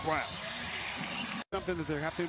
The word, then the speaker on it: Braun: Turnovers and out in transition, which lead to open three-pointers, as Brown, whose name is spelled Braun, but pronounced Brown.